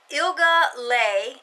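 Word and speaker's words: Ilga Leja: 2013 are Halcyon Yarns ilga lay I think is how you pronounce it it's i-l-g-a-l-e-g-a I'm sorry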